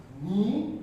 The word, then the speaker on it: knee: Knowledge, knee, knife, K is silent, right?